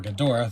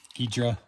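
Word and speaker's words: Ghidorah: gadora the three-headed monster a name I pronounce a little differently every time I just want to say gadora but I know that's a very American way to say it gedra perhaps illustration by Mona Mona robot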